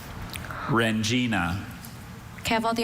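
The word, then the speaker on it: rendzina: Rengina is spelled R-E-N-D-Z-I-N-A.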